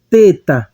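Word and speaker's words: θῆτα: texto ele vai representar o nosso t h ele vai ter aquele som bem suave como por exemplo em thank you como no inglês o th vai ter aquele som mais suave ele não vai ter o som de um ter como ter ele vai ter o aquele som bem fraquinho temos aqui a palavra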